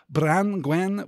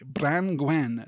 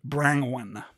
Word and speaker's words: Branwen: Blain oh and uh branwen which splits into two syllables between the n and the g branwen not the slightly less attractive brang one branwen we should also